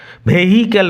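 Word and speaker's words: vehicle: ইট required no ভেহিক্যাল, উচ্চারণ লক্ষ্য করো, এইচ সাইলেন্ট থাকবে। ভেহিক্যাল নয়, ভেহিক্যাল।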